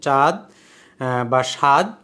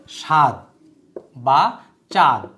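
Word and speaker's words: চাদ: অনেকে উত্তর লিখেছেন তনুজা ইয়াসমিন, সাদ, নীলোফা ইয়াসমিন, চাঁদ বা সাদ, ঠিকই আছে। এই রাষ্ট্রটি আফ্রিকা মহাদেশের সাদ বা চাঁদ, দুই রকমের উচ্চারণই হয়, তো সাদটাই হচ্ছে বেশি অ্যাপ্রোপ্রিয়েট।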